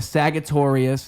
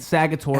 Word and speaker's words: Sagittarius: That's what a Does it Sagittarius cross over with is. Taurus there? No, completely unique. Oh, okay. Yeah. Saga with a soft G.